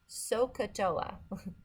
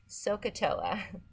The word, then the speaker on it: SOHCAHTOA: remember the trigonometry she owes and it is pronounced sohcahtoa sohcahtoa but you have to know how to spell